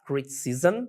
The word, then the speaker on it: criticism: Criticism, olha se pronuncia no final, zm. Criticism é crítica.